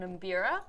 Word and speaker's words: mbira: So Mike says the instrument you played was called an mbira. Mbira. Ah. What's how do you pronounce?